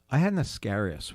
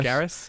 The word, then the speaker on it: Ascaris: I had an Ascaris worm. Is that how you say it? Yes, Ascaris? Ascaris?